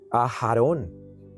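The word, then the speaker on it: Aharon: Y la otra es A h a r o n. A Jarón. A nosotros nos llega en español a A. Aarón. Hay una H.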